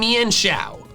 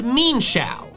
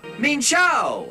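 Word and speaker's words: Mienshao: Another pair of evolutionarily linked Pokemon that I pronounced wrong are Mienfoo and Xiao. Apparently, the official pronunciation is Mienfoo and Xiao. Mienfoo. Xiao. This was news to me.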